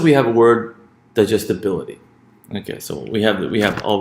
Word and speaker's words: digestibility: So we say, what syllables come before the stress syllable bil? Digestibility.